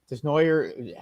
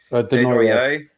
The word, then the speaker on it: Desnoyer: I don't think that Desnoyer, is that how you pronounce his name? Denoyer. Denoyer. Okay, I don't think he's gonna last to 6.